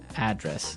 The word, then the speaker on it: address: you live yep and there the stress is on the first syllable address right perfect very good